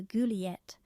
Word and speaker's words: Juliette: They decided to name their daughter Juliette, pronounced Juliet, and her middle name is Maria.